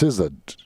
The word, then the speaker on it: SZA: I believe that's pronounced SZA. Gabe, are you familiar with SZA? Yeah, SZA. Is it SZA? Yes, okay. that is SZA.